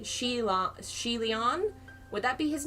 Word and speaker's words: Xie: too okay so z-i-e is pronounced she so kind of like banshee gee oh you are